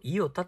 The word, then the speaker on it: イオタ: 始まってるからえこの JO から始まってこれをイタと読むというのがあ一般的な通例ですはいちなみに